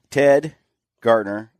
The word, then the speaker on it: Gartner: Ted Gartner, both from Garmin, right?